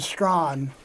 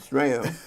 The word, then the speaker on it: Strachan: Okay, I pronounce it Strawn. Strong. I always pronounce it Strachan, which of course that makes me wrong, but you heard it from the man himself.